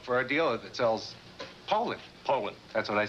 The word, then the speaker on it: Poulan: So, when you're looking for a tough, dependable chainsaw, look for a dealer that sells Poulan. Poulan. That's what I said, Poulan. You You said Poland?